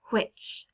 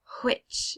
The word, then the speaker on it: which: This is a little bit different than you might pronounce it, but it's supposed to sound like which, which. So you have WH together, and it almost switches places if you say it properly.